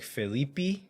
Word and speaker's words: Felipe: think the bra like the Portuguese pronunciation is more like phelipi and then the last